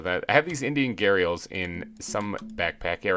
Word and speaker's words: gharial: make an exhibit for what i call the guardiols they're pronounced gharials apparently according to some random place i found on the internet uh so i'm